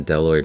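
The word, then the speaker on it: bdelloid: so that's a um a deloid rotifer it's spelled with a b diligrotifer and um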